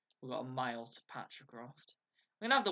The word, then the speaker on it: Patricroft: Patricroft.